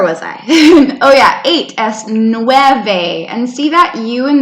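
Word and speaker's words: nueve: video gracias where was I oh yeah 8's new Ave and see that you and me together guys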